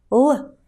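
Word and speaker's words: Л: L is pronounced like the English L in the word seagull. L, L, L.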